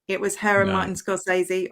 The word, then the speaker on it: Scorsese: It was her and Martin Scorsese, or I think the correct way to pronounce his name is actually Scorsese.